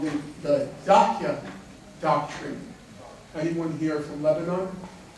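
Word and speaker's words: Dahiya: How would you pronounce it? Dahi.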